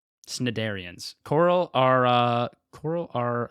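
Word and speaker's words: Cnidarians: I think uh corals are cinidarian cin cinidarians. I don't know how to the word is spelled cn. There's no vowel in between them. It's c n i darian. Okay. Snidarians.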